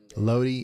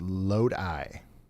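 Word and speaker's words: Lodi: Load is pronounced load eye.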